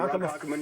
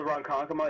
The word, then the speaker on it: Ronkonkoma: I'm not going to pronounce this. Ronkonkoma. Ronkonkoma. Yeah, you got it right, actually. Ronkonkoma, New York.